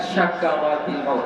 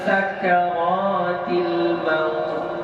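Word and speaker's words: سكرات: Bacaannya sin sa bukan sya bukan syakaratil maut bukan ya. Allahumma a'inni ala sakaratil maut. Sakarat ya bukan syak, bukan syakaratil maut ya.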